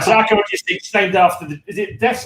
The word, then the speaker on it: Acherontia Styx: First of all, have I pronounced that correctly? And what the bloody hell is it? Paul, that's got to be you, man. Yeah, you certainly have pronounced it spot on.